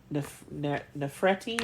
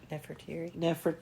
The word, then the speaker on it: Nefertiti: after the death of his beloved wife, Queen Nefertiti. Is that how you say her name? Nefertiti.